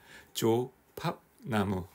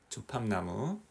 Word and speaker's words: 조팝나무: 혹시 조파 나무라고 아세요 발음을 잘하셔야 됩니다 너무 빨리 하면은 이상하게 들릴 수가 있어요 너무 느리게 해도 이상한가 조팝나무 조팝나무 대학교 무렵이었던 거 같아요